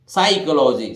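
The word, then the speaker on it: psychology: साई एस वा से साई और यहां एच साइलेंट रहेगा तो देखिए साई को और ये लॉजी है साइकोलॉजी साइकोलॉजी साइकोलॉजी किको बोलते हैं मनोविज्ञान को इसी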